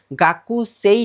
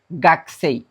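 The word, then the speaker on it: 学生: সো এই শব্দটার ক্ষেত্রে কু এর উচ্চারণটা কর্ম মত হবে। এটা একটু এক্সেপশনাল ব্যতিক্রম। এটা মাথায় রাখতে হবে। গাকুই না হয়ে কি হবে? গাসেই।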